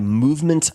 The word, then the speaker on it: MVMT: This episode is brought to you by Movement Watches and that is spelled MVMT.